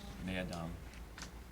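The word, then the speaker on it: מאדם: Neadam. Yeah, Dom. You gotta put the emphasis on the last.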